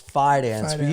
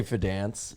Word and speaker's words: Fidance: name wrong all right it's fance you can say fidance sorry whatever as long